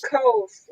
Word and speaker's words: Coles: It's Coles. Coles. That's what I said. Coles. Just like Coles. Okay, without the L.